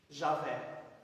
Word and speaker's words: Javé: E esse primeiro H aqui, que é uma consoante hebraica, eles substituíram pela primeira vogal de Adonai. E esse outro H, eles substituíram pela primeira vogal de Elohim. Agora eu consigo pronunciar o nome pessoal de Deus. Como o Y, para nós é vogal, mas em hebraico é consoante, equivale ao J.